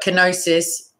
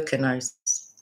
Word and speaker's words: kenosis: But kenosis is the pronunciation I'm going with.